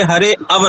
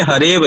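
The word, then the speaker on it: हरेऽव: हमें वहां पर हरे अव नहीं पढ़ना है। हरे व ही पढ़ना है। अ का उच्चारण हमें नहीं करना है।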